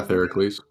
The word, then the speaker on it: Theracles: Like, it sounds like Theracles? Hercules, but starts with a T. Yeah, Theracles.